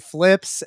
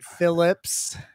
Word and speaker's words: Phlipz: h l i pz my name is DJ flips it's not Phillips it's one syllable so that really grinds